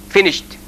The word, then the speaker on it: finished: We write it ed, but we pronounce it t, finished.